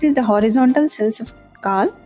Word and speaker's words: Kahl: Next is the horizontal cells of Kahl. It is not Kajal, J is silent there.